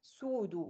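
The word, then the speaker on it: pseudo: كلمه كاذب في الطب اسمها سودو، البي دي ما بتتنطقش، يبقى سودو.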